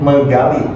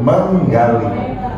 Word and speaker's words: menggali: But as a native, we don't say it megali, but menggali.